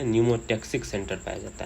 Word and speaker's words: pneumotaxic: इसको पिन्यूमोटैक्सिक सेंटर नहीं बोल देना, न्यूमोटैक्सिक सेंटर पी से होता है, इसमें पी साइलेंट होता है।